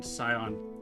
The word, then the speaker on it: Scion: Scion see you guys can't hear Malish cat but um she's telling me that the sea is silent and in sion but I've been saying it wrong this entire time.